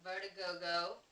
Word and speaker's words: Vertigogeaux: And my nickname over there is Vertigogo, and it's spelled Vertigogeaux.